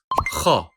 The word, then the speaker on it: خ: It is never read as kh, but kha.